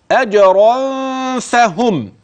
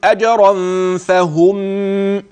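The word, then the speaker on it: أجرًا فهم: كده اظن وضح عندك نون التنوين الملفوظ ماذا تحدث لهذه النون فيما سبق ادغمت مع الياء ادغمت مع الميم مع الفاء ستخف ازاي يعني اجرا فهم وخلي بالك من كلمه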